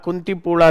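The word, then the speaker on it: Kunthipuzha: And you have Countipula River over that. Okay. See uh I guess it is pronounced I mean in Tamil and uh in Malalam you don't say zed, you say la.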